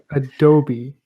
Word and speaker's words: Adobe: So Except for the fact that Adobe is a company and it's pronounced Adobe.